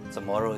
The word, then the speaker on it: Chamorro: As we know, Samoru is usually spelled or before it was traditionally spelled with a C-H-A-M-O-R-R-O, right? So this is the traditional spelling, right? This is what we know as Samoru. The new orthography allows us to spell it this way for a couple of reasons. One is because there is no C in Chamorro language in the pronunciation, so there's a CH.